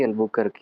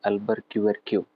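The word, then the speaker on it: Albuquerque: हाँ, Alphonso de अल्बुकर्क या फिर अल्फेंसो डी अल्बरक्यूरक्यू। प्रोनाउंसिएशन जो है ये पोर्टुगीज है ना, तो अलग अलग। बहरहाल नहीं बोल सकते हैं, कोई दिक्कत नहीं। अल्बुकर्क भी बोल सकते हैं, पूरा नाम यही है।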